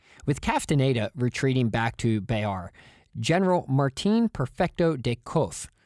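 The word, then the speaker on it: Bexar: that castaneda have retreated with his men to behar which by the way is spelled b-e-x-a-r which for a totally like illiterate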